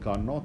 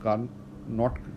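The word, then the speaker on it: Carnot: तो जो एक फ्रेंच इंजीनियर सादी कार्नॉट था, इसमें जो कार्नॉट लिखा जाता है तो टी जो है वो साइलेंट है, तो सादी कार्नॉट जो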